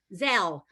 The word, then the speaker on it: Zelle: Does anybody know how it's pronounced? I'm not sure. Zelle.